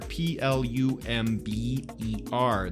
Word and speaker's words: plumber: service workers a plumber p l u m b e r the B is silent plumber a plumber is somebody